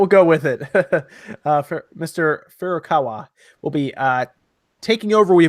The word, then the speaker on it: Furukawa: here sean is that i always mispronounce is like horikawa I feel like contort my face to say it just I think it's fu ru k AWA Furukawa that's how I've been